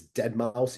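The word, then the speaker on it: Deadmau5: Is uh is dead mouse EDM? Yes. Yep. Is that even how you pronounce it?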